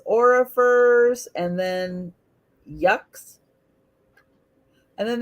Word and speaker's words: Orrefors: typing it in so you can see how it's spelled. There it is. Orrefors. Orifers.